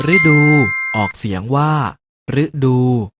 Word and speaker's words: ฤดู: ให้ ถูก ต้อง ฤดู แต่ ฤดู ออก เสียง ว่า ฤดู ดาว ฤกษ์ ออก เสียง